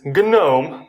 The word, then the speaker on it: GNOME: this sounds weird but in many other languages we never miss this g letter the sound from the beginning of these words like gnome and gnu for me